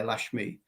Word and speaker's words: Laxmi: It's spelt with an X, Laxmi, Lashmi.